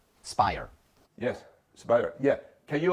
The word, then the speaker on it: SPIRE: How to pronounce it? Spire? Spire.